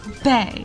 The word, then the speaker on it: Bea: Micro Bay is definitely misunderstood by many and not just because no one says her name right, but I have proof. It's pronounced bae.